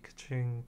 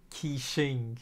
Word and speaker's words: Qixing: The time of the adapting has long passed, if even the Liwe Kaching didn't, is, how do you pronounce that, Q-I-K-C, oh well, Quing, what, how do you pronounce this?